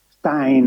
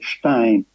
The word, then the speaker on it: Stein: I would prefer to use the ordinary British pronunciation of his family name, Stein. Of course, this is how generally it is known here in Pakistan. We know perfectly that his name should be rather pronounced Stein.